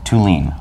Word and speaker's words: Thulin: Thulin. Thulin. Like to lean on something. Okay, with the accent on the second.